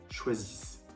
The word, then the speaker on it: choisissent: Il, elle choisissent. Il, elle choisissent. Pour avoir une prononciation correcte, attention. Zis, the, et ensuite s. Choisissent. Deuxième exemple avec finir.